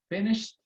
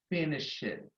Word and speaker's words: finished: If you start paying attention, when your teacher gives you a task, after sometimes he's going to say, finished, finished, not finish it, but finished.